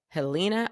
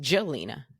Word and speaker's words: Jelena: She played someone named Helena Ostapenko, or it might be pronounced Jelena Ostapenko.